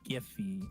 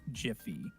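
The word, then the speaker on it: Giphy: you said it right it is giffy not jiffy infringement yeah number two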